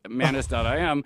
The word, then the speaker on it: Manus: So I went to Manus, the Chinese Manus.im, and I said, can you put this together?